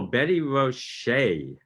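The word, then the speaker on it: Betty Roché: Oh, Betty Roche, you pronounce the E.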